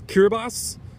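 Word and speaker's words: Kiribati: opportunity there i believe i've actually pronounced that wrong to start the review its cure boss in the IQs are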